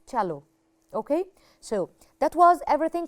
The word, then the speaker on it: cello: maybe you can wonder i say chalo although i don't have ch here because cello actually originally it's an italian name of this instrument italia that's why the italian people say it or pronounce it okay so it's chalo okay so that was